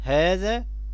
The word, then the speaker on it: هذا: لو لاحظنا ان فينا مد بعد الهاء لكننا بنكتبهاش بالمد، بنكتبها بهذا الشكل، هذا، هاء ذا الألف.